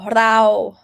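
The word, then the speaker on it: เรา: Sarao, rao, mid tone.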